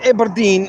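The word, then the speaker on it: Aberdeen: Now people will say Eberine is abber is abber no it's eberine it's eberdine I have got fullblown proof it's called eberine and eberdine is how it's pronounced it's the same there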